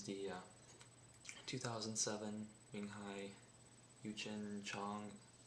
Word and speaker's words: Xiang: 2007 Menghai Yue Chen Xiang. It's Xiang. If memory serves me correctly, that's similar to a Chinese dynasty that I studied in AP World a couple years ago. So that's what I'm basing the pronunciation off of.